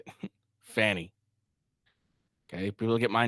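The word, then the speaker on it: Fani: and that's how they're going to say it Fanny okay people get my name wrong all the time okay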